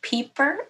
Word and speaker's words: Pieper: My last name is actually pronounced Pieper, and I didn't think about telling you that.